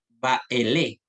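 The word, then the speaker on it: באלה: Baele. Baele. ¿Ya? Baele con acentuación en la última sílaba.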